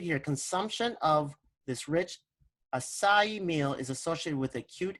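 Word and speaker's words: açaí: tea okay and it's it's pronounced a it's pronounced acai acai it's pronounced acai okay and if you put that into pubmed.gov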